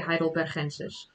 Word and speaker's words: heidelbergensis: Someone says that they really like the way I say Homo heidelbergensis, because I do say it in the Dutch way, heidelbergensis, because to me that sounds natural.